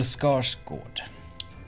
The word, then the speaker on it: Skarsgård: And maybe this is just because, no, it's not just because I'm Swedish, but Bill Skarsgård. Bill Skarsgård. That's how you pronounce it.